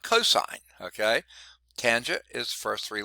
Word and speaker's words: cos: abbreviation for cosine is c-o-s not pronounced cos but cosine okay tangent is first